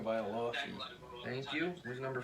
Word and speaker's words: Tagovailoa: I don't know how to pronounce it Tua correctly. Tagovailoa.